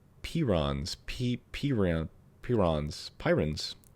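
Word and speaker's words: prions: Pyron. Pirons. P r i o ns. Pirons. I just looked up how to pronounce it. Pirons.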